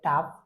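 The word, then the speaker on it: tough: সো অনেকেই মনে করতে পারেন এার স্পেলিংটা হবে বা উচ্চারণটা হবে এনা। আসলে এটা হবে এনাফ। তো ঠিক একইভাবে হবে টাফ টি ও ইউজি এইচ যার বাংলা অর্থ হচ্ছে কঠিন।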